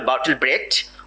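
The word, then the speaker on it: Bertolt Brecht: আপনারা জানেন বার্টল ব্রেস্ট, উচ্চারণ বিশেষে বলা হয় বার্টল ব্রেট।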